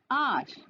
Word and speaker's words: hour: I will be back in an hour. Here, R is a consonant and it is starting with consonant letter H. Here, H is silent and the sound is A.